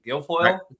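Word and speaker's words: Gilfoil: this morning Mr I don't even know if I pronounced your last name right I've never asked your pronunciation Gil foil say it oh actually you did perfect yeah sweet all right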